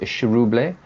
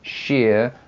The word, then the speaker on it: Chiroubles: was saying to me, it's a Chiroubles. But I don't know, it sounds a little bit too much like Chernobyl for me, so I'm going to stick to having the little accent on the E.